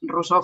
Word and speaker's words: Rosor: Tengo mi página web que es, bueno, pues Rousseau, que es mi nombre, como se pronuncia aquí. Rousseau es un nombre catalán y es un apellido francés, pero yo lo castellanizo.